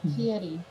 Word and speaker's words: Fieri: Yes, oftentimes he gets called Guy Fieri. It quite upsets him. Because they don't pronounce it correctly. How do you pronounce it? Fieri.